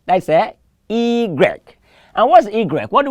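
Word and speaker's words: i grec: us why the Y is one to go e Greg e Greg e Greg I could spell igre um i g r e k e Greg how do you spell it if you have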